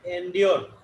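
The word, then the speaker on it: endure: তুই এগুলো কি বলিস? উল্টাপাল্টা প্রোনাউন্সিয়েশন করিস। আর এন্ডিওর, এন্ডিওর। ওকে, এটা প্রোনাউন্সিয়েশন হবে এন্ডিওর।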